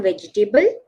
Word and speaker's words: vegetable: go and buy some vegetable no the second e there are three es can you see so the second e is silent here vegetable vegetable vegetable okay now the most